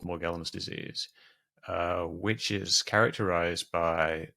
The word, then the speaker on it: Morgellons: I pronounce it Morgellons, but it's also pronounced Morgellons.